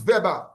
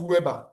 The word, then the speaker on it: Weber: The other one is Vber. It's not is pronounced Vber not Weber.